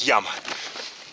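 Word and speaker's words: llama: Две буквы L, A, M, A. Читается как яма.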